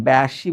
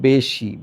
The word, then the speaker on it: বেশি: পরবর্তী বর্ণের রসয়কার আছে এটাকে তুমি ব্যাসী বলতে পারবা না এটাকে বলতে হবে বেশি বেশি তাহলে তুমি এটাকে বলবা বে তারপর বলবাশি কেন এ ইকয়ালটু এ কারণ কারণ পরবর্তী বর্ণের হসৈকার রয়েছে এটাই বলেছে।